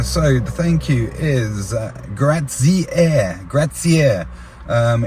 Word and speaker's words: grazie: Um, it took me a few goes. There was a young lad who was a waiter there and he pulled me up on my pronunciation every time I did it wrong cuz I was going gratier.